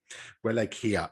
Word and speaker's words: Wallachia: Wallachia, I think, is how it's pronounced anyway.